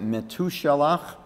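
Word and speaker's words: מתושלח: Now, the 8th name is Mesushelach. Some people pronounce it Metushelach, and they claim it means his death shall bring.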